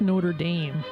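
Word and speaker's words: Notre-Dame: It's pronounced Notre Dame.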